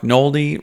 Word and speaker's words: Noldy: My name's Noldy, rhymes with moldy.